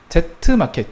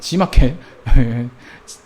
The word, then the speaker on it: G마켓: 니은을 보시면 Z마켓, G마켓 이것은 Z라고 안 읽죠. 저희는 어렸을 때 이제 Z라고 읽었었는데 요즘은 G라고 읽죠.